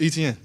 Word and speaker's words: Etienne: so I'm like, "Man, it's Etienne. Like, it's how you see it is how you say it."